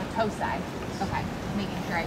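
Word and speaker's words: Battousai: And how do you pronounce that again? Batosai. Batosai.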